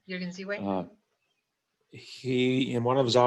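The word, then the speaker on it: Jürgen Ziewe: Is that how you Yes, pronounce his name? Jürgen Ziwe.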